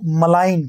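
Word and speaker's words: malign: हम लोग एकली उच्चारण अगर सही देखे हम लोग तो मलिन नहीं कहते इसको मलाइन कहते हैं मलाइन मलाइन यानी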